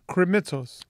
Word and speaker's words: Krimitsos: Krimitsos. Not even going to try it. Podfest. How would you say my last name? I just go K. No, but if you say Krimitsos, so what does it come out with your...